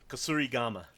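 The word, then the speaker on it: kusarigama: How do you say? Kasuri Gama. Kasurama. Thank you.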